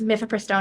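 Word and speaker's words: mifepristone: there are two pills mifiprestone and misoprostol um or Maison I've heard it pronounced a number of different ways um and you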